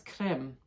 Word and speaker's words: Krim: The Kali bija is Krim. It sounds like cream, K-R-E-E-M, cream, cream.